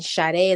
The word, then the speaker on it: Sadé: And then Sade is like the singer, Sade.